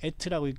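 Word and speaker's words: את: 그래서 이것을 에트라고 읽는다고 했지 않습니까?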